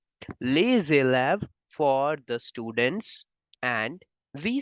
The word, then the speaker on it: les élèves: After the S, the next word is starting with the vowel, so we have to make the sound of Z. So that's why the students in French will be pronounced as les élèves.